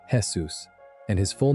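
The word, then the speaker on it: Jesús: The actual answer is one of the more beautiful little jokes the show ever planted because Seuss is short for Jesus, pronounced the Spanish way as Jesus and his full name is given in a credit sequence as Jesus Alzarano Ramirez.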